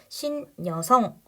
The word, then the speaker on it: 신여성: 모음으로 시작했는데 그게 여니까 발음할 때 니은이 첨가돼 신여성 요렇게 발음하게 된다는 거 자 니은 첨가 현상은